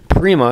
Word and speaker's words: Prima: Feature-wise, they are going to offer what are now called the Prima Nova Burner, and people will be mispronouncing it, calling it a Prima Nova. Prima is the correct Italian pronunciation.